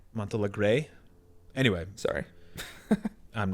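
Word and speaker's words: Montealegre: this incredibly charismatic character, Carey Mulligan as Felicia Montelegro, excuse me. Montelegro or Montelegre? Montelegre. Anyway, Sorry. I'm not going to pronounce it correctly.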